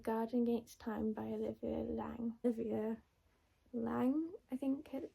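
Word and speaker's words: Laing: I'm also reading The Garden Gates Time by Olivia Lang. Olivia Lang, I think. It said it's spelled L A I N G um about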